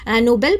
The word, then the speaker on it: Nobel: तो जो नीचे वाला है नो बेल इसमें जो बेल है इस पे हमें स्ट्रेस डाल रहे हैं।